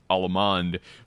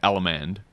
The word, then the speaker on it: Allemande: say the word Allemande, they're saying it in the square dance pronunciation where they say Allemande, and so Allemande left in it like that.